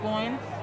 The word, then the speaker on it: Boyne: and your last name b-o-y-n-e born b-o-y-n okay it's irish i know it's weird